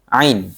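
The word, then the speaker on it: ع: Huruf ain pada pada kata a alika ya huruf pengucapannya kita biasakan huruf a ya. A a i u ba a a. Jadi minimalnya ketika kita belum bisa huruf A, kita usahakan A ini harus beda dengan hamzah ya.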